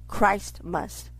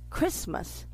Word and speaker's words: Christmas: It's really pronounced Christ must. But the America pronounce it Christmas. It's really pronounced Christ must.